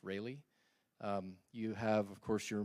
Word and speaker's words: Rayleigh: This is called a Rayleigh distribution, spelled like Raleigh, but pronounced Rayleigh.